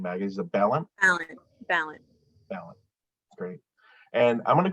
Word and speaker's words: Balint: And how do you pronounce the last name, Maggie? Is it Balint? Balint.